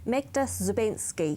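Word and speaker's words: Magda Szubanski: Yeah, and there was an article written about, I always make sure I pronounce this correctly, Magda Zubensky.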